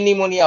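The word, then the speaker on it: pneumonia: विदेश नीति मोनिया पी निमोनिया होता है पीस साइलेंट तथा निमोनिया निमोनिया में पिस silent P निमोनिया typhoid typhoid में हाई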